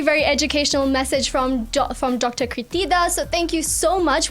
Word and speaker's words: Kirtida: Kirtida. Did I say that right? You did say it right.